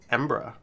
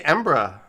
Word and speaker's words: Edinburgh: we go i'm gonna say it like a local it's embra embra no it's ambra we have the official uh edinburgh says rampification they say embra you can't you can't